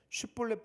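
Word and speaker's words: שיבולת: 슈플렛 이게 이삭이라는 뜻인데 일반 사람은 슈플렛 하면 발음이 되는데 에브라임 사람만 슈 발음이 안 돼서 씹이라고 했거든요. 발음 테스트를 시키고 슈플렛 발음을 못하면 아 너 에브라임 놈이구나 하고 죽이기를 총 42,000명이 죽습니다.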